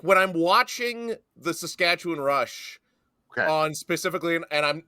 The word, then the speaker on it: Saskatchewan: As I hammer on fellow broadcasters all the time, it is Saskatchewan. It's like we're winning, which hasn't been the tradition of the Rough Riders, but that's how you say it. But, uh, no, thrilled to be back. I so excited for tonight. Saskatchewan win. Saskatchewan. Yeah. Okay. Saskatchewan. Okay. It's a win, not a one.